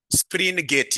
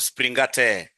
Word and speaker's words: Springate: Springgate. Yes. Not springate. Springgate model. Springgate model. So under springgate model, ladies and gentlemen, what are we supposed to be knowing under this springgate model? Under the springgate model, what are we supposed to be knowing?